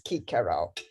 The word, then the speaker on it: Cicero: But for the classical period, basically, that C is a k, and the V is a w.